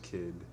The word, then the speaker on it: Cid: for a trip and CID pronounced kid who broke his foot